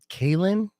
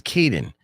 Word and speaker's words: Caden: Kalen? Huh. Is it No, it's Caden. Kaden. I've been calling him Kalen.